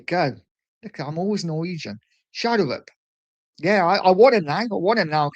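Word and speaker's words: Schjelderup: Being from that part of the world, I would say Schelderup. That's how you pronounce it. Okay, Schelderup. There you go. Look, I'm always Norwegian. Schelderup.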